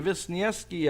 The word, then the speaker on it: Wisniewski: by adam visniewski wisniewski visniewski i pronounce it with double v because that's what the w is it's the double v when state senator adriana